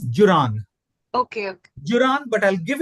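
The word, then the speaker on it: Juran: take it away Joseph Jordan can you just repeat it pra Joseph Jordan Joseph joran or Joseph M actually the pronunciation is Jan okay Jan but I'll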